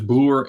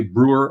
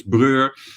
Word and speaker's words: Broer: Broer means brother, but Broer, I think it's only pronounced as Broer in the Netherlands, and I think if English people would see it and read it, they would say Brewer or something, and in Germany it's Breur. So the pronunciation is different everywhere, and I thought Fratello,